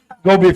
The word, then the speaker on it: GoBee: Pronunciar outro GoBee para facilitar mais. GoBee fica mais fácil.